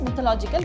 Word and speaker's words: mythological: It is pronounced as mythological because MITH is myth.